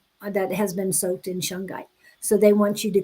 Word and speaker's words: shungite: in shungite.